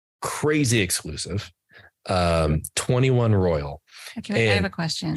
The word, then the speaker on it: 21 Royale: guys got invited to go to 21 Royal, 21 Royale. So you were there. How did they pronounce it? It was incredible, and they pronounce it 21 Royal.